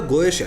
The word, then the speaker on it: Goetia: अब पहले की बात करें तो गोएशिया या गोएटिया जो भी आप प्रोनाउंस करते हैं, तो इसे जस्ट एक